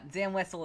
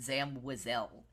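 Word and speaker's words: Zam Wesell: us Zam wessell okay is that the right pronunciation yeah it is it's pronunciation yeah Zam westle is right so D'Or this was a while ago we were talking with him about this um and he was like oh I always pronounced it Zam wazelle oh and we were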